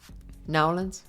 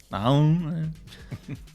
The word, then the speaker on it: New Orleans: You also told me how to say it correctly. Nawlins. Nawlins.